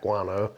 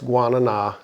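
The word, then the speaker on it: guaraná: heard it pronounced but I always see it on a can and it was like guano I always think back guano right but no it's guanana and it's very high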